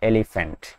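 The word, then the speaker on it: elephant: এলিফ্যান্ট যদিও এটি starting letter is ই, মানে শুরু যে বর্ণটা সেটা কি, সেটা হচ্ছে ই, কিন্তু মাঝখানে এফ এর উচ্চারণ রয়েছে এলিফ্যান্ট, তাই এলিফ্যান্টটা এফ এর সাউন্ডে পড়ে, তাই না?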